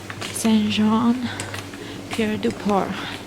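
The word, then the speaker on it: Saint-Jean-Pied-de-Port: like 65° fahit and we're in s John Pi dupor this is the right way to pronounce the name of this beautiful city or Village I restor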